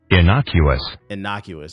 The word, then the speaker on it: innocuous: Can I get a pronunciation? Innocuous. Okay, that is how you pronounce it.